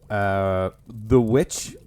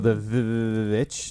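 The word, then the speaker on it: The VVitch: So I have The Witch, or The Witch, depending on how you want to pronounce it. I think it's just Witch. Yeah, I think it's just The Witch, yeah.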